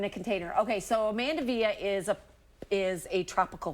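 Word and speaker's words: mandevilla: do you say that mandavilla mandavilla some people call it mandavilla depends on if you like to combine those double L's and say it sort of in a Spanish way I guess oh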